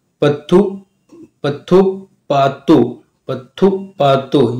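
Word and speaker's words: பத்துப்பாட்டு: पत्थु पत्थु पातु पत्थु पातु, यानी ये तमिल वर्ड है, इसके लिए थोड़ा सा उच्चारण में पत्थु पातु।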